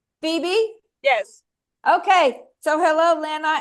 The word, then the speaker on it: Phoebe: Pronounce it for me. It was Phoebe. Phoebe.